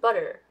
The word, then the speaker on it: butter: to pronounce batter and butter so these are actually pretty different in American English but for a lot of English learners for example for Japanese we pronounce them in the same way which is B right